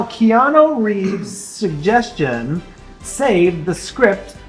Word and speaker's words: Keanu: Keanu. Yeah, he said, pronounce my name right and I'll stick around.